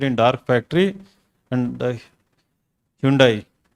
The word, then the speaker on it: Hyundai: And the Hyundai. They say Hyundai in the advertisement. It's Hyundai or Hyundai, right?